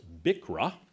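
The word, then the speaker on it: BCRA: Court decisions that is frequently referred to as bikra BC uh it rhymes with bicker although the philosophical arguments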